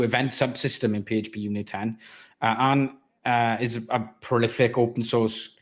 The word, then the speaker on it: Arne: In German, it would be Arne, but Arne. I'm been traveling around the world, so I'm pretty used to all kinds of variants. It's Arne, Arn, either is fine.